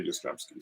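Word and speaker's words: Yastrzemski: like i cannot say his name like karl yastremski like literally took me like 15 years to be able to say yostremski so um tony oliva oh leva there we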